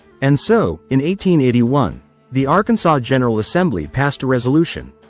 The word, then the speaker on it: Arkansas: the general assembly, that the name of this state shall be pronounced in three syllables with the final silent, the A, in each syllable with the Italian sound, and the accent on